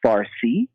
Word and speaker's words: Farsi: In Persian, the word for it is Farsi, but the Greeks pronounce it Persian or Persia, and that's why in